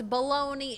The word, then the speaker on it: Bologna: So it's Bologna, Italy. Italian city, Bologna. That would explain why it's got a G that I do not pronounce.